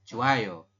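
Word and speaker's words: 좋아요: adalah manayo seperti itu ini juga sama Joh Ayo dibacanya adalah joayo seperti itu ya silakan di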